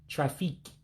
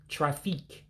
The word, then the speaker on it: traffic: But traffic would be pronounced as Trah-Feek. Trah-Feek for traffic.